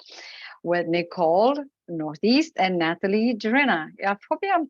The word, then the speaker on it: Gerena: okay good morning everyone my name is Natalie herrena I'm Industrial Engineer at General Motors Canada about